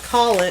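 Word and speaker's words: Kalich: K A L I C H Colik.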